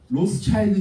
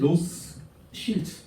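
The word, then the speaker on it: Rothschild: 로스 실트라는 뜻이에요. 실트. 붉은색 간판이라는 뜻이에요. 왜 그러냐면은 로스차일드 집안은 유대인이에요.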